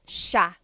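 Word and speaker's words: siya: to point out about sha. First is the pronunciation. It looks like it should be pronounced sa cia. But it's actually pronounced sha sha. So the s i y it's a sha sound.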